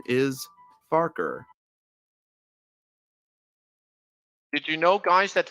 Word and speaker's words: Farquhar: did you know that it's pronounced farker sort of like it's sort of like focker here's a proof it